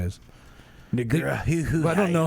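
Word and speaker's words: Negreanu: Negrahu. I don't know how to pronounce.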